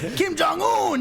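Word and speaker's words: 김정은: North Korea, Kim Jong Un. This rhymes with moon.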